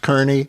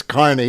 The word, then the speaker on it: Kearny: something on the turnpike, and you think it's pronounced Kearney. Yeah, it's that place, Kearny, but it's Kearney. It's always been Kearney.